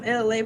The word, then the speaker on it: Elay: I'm LA, pronounced like LA, like the city.